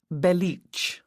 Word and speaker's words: Belich: You say it Belich, which isn't what it looks like.